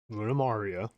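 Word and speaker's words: Lunamaria: G Falcon Armorary One Red Dynamus or just from Earth and Bravie Flat Victory Gundam Luna Luna Maria, that's how you say her name.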